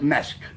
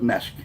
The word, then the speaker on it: mesk: is, we call it mesk. Mescaline is. We call it mesk. M-E-S-K. That's what it sounds like, but that's not how it's spelled.